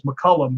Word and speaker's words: McCallum: find me, and it's spelled not like it sounds. My name is McCallum because it's named after Saint Columba, so it's pronounced McCallum, but it's actually like McCallum. Matter of fact, if you ever look up David McCallum on NCIS, that's how you do my last name.